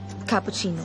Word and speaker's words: cappuccino: And it's difficult to pronounce. Ca-pu-si-no? Ma-ch-ya-to. Macchiato. Cappuccino.